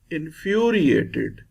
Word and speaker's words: infuriated: Infuriated. This sign shows fury will be stressed. In fury. In first 2 words, first syllable of each was stressed, but in third word, the second syllable is stressed.